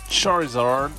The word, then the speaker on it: Charizard: bien rappeler un petit Charizard, et oui il faut le prononcer à l'anglaise, étant donné qu'on est sur un pack US, anglais, hein, un Twilight qui soit vendu en Angleterre ou aux États-Unis, ça change rien.